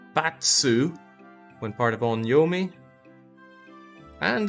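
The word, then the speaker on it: 罰: Net, sei, and sword is punishment, pronounced batsu when part of onyomi.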